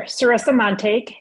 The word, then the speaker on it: Sarissa Montague: First and foremost, let's get through the little formality of can you say your full name, spell it for me, and then your title as well, please. Sure. Sarissa Montague, S-A-R-I-S-S-A, M-O-N-T-A-G-U-E, and I am a criminal defense attorney at Levine and Levine in Kalamazoo.